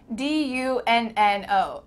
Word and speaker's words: dunno: It kind of sounds like D-U-N-N-O. Dunno.